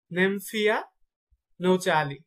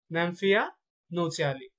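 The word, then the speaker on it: Nymphaea nouchali: শাপলার বৈজ্ঞানিক নাম হচ্ছে নেমফিয়া, নেমফিয়া নৌচালি, নেমফিয়া নৌচালি।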